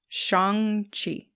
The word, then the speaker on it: Shang-Chi: It's actually like Sean with a G at the end. Chi. Shang-Chi.